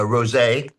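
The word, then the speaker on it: Roget: Uh, a rosé. R O G E T. Cesaris. Took me years to learn how to pronounce that word, but get one.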